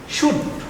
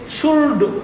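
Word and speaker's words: should: আমরা গ্রামারের মধ্যে পড়েছি শুল্ডু শুডু এরকম বলে আসলে না এটা হবে শুট অর্থাৎ ঠক এখানে টক বলে অনেকে হবে ঠক অর্থাৎ টক হবে এল টা উচ্চারণ হবে না তো প্রশ্ন হলো কেন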